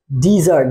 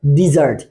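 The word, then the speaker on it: desert: এটার অর্থ হচ্ছে মিষ্টা আর একটা এস যদি আমরা কমিয়ে দেই ডি ই এস ই আর টি তখন এটার উচ্চারণ হয়ে যায় ডেজার্ট কি হয়ে যাচ্ছে ডেজার্ট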